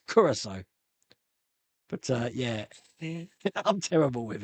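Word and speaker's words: Curaçao: Blue, not Caraco. Curacao. It's called Curacao. For years, I've been pronouncing it Caraco, but no, it's Curacao.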